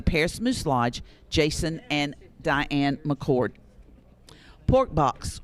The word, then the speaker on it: Deanne: Deanne, it might be Diane. I believe it's Diane. Yes, Diane. It's spelled Deanne, but I thought it was Diane.